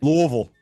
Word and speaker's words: Louisville: Louisville. We just talked with Mike Rutherford about how to properly pronounce it, and you already messed it up, man.